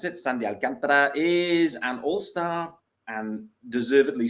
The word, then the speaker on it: Sandy Alcantara: sean barrett sandy alcantara that is how you pronounce it sandy alcantara is an all-star and deservedly so gut feel